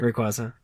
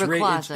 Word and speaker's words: Rayquaza: Rayquaza. It's Rayquaza. It's Rayquaza. Rayquaza. The Y is silent.